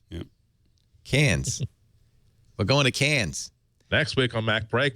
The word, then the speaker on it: Cairns: In Australia, there's a town called Cairns, Cairns. Mm-hmm. There's McKay Island, Mckay Island. But I was told several times, no, it's pronounced Cairns and Mackay.